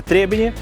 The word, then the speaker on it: Trebinje: старое сооружение в городе Требени. Именно так ставится ударение в этом слове.